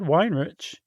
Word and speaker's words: Weinreich: Uh Wein- Weinrich, I think. Weinrich? Okay, yeah. I'm pretty sure that's how um I think it was Wikipedia that had the pronunciation, and I think it said Weinrich.